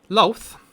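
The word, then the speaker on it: Lolth: a detect magic i think they did maybe loath was known as and that's a l-o-l-t-h uh calling it this is pronounced lalf as though it's about women a but why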